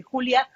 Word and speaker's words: Julia: El curso que nos presenta es en Julia, pero en Julia, como se pronuncia en inglés, pero también maneja otros lenguajes de programación como C++, Java, Perl, R, SAS y Python.